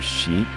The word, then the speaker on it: Scheat: It's on the star Sheet, which is spelled like Scheat.